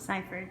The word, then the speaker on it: Sipherd: Sipherd, yes.